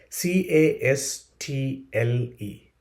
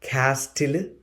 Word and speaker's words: castle: C A S T L E. How do you pronounce that word? Is it castill?